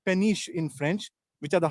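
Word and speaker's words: péniche: can live in them so you call them penish p n i c h e penish in French which are the house boats so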